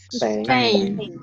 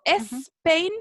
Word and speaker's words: Spain: Que la S al comienzo de las palabras en inglés no se pronuncia es, ¿sí? Uno hace el sonido de la S solamente. Spain, ¿cierto? Spain, ¿ya? Para que no cometan el error, ¿cierto? De decir Spain. No, ¿cierto?